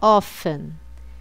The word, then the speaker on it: often: of ever never então note a pronúncia do often você não falo T Tá bom é só often então repetindo always usually